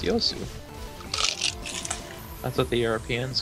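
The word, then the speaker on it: Yasuo: Lucian to me okay it's like youo yasu it's yosu yosu sorry yeah that is that is yosu and then there's n Yu yosu Yu yosu it's yosu that's what the Europeans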